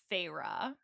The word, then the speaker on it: Feyre: So our main character's name is Feyre. And we know that's how you pronounce it because a few people listen on